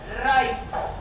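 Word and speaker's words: ripe: अब रिप, अपन ने उसमें एक साइलेंट ई जोड़ दिया, राइप, ई, आई बन गया।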